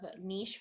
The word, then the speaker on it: Niche: am the creator of niche book bar or niche depending on the side of country you're on for how to pronounce that um and so what